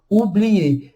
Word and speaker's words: oublier: Então, duas letras aqui, OU dá o som de U, e o ER dá o som de E. Oublier. Se fosse em português, como que a gente pronunciaria essa palavra? Provavelmente a gente pronunciaria oublier, oublier. Tá vendo? Tanto que no português a gente pronuncia mais letras do que em francês. Em francês, oublier.